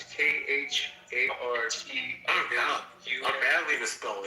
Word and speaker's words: Khartoum: Kartum, I think. It's Khartum. Oh God, I badly misspelled it. Wait, say it again. Cartoon. No, spell it again.